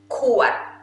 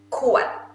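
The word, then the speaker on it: ขวด: Kuat. Kuat.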